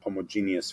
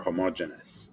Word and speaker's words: homogeneous: The other related concept that I'm going to bring up here is the one of homogeneous functions, or homogeneous, depending on your pronunciation.